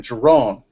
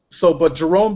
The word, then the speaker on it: Jerone: Well, my name is pronounced with an N, Jerone.